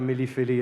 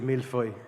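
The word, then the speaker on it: mille-feuille: But one thing I'd like to correct is it's not a Millie Philly, it's a mil foy. Milo, that's often mispronounced. So thanks thanks for correcting that and thank you very much and congratulations once again.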